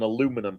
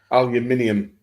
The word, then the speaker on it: aluminium: would say it looks like you got an aluminum pie aluminium you Heathen fooks absolutely pronounce all the pronounce the letters in Words